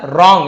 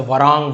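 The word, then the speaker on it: wrong: ना जो अक्सर रंग यहां पर डब्लू सेट है डब्लू आर एक साथ हो तो डब्लू जैसे राइट होता है डब्लू आर आई टी तो डब्लू सेंट होता है केवल इससे पढ़ते हैं रंग राइट ऐसे वरंग राइट नहीं पढ़ते हैं क्लियर है तो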